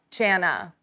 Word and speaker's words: Jana: It's also Anna with a J.